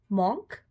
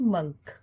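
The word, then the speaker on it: monk: मॉन्क नो इट्स मंक.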